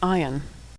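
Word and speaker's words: עין: the Hebrew alphabet is Ion ion is silent like Olive ion dips just a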